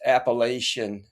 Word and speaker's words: Appalachian: So is it Appalachian Trail? Did I say that correctly or no? It's It's Appalachian. Appalachian.